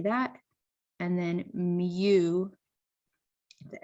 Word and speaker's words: mu: And then mu, the M and U, mu is the population mean.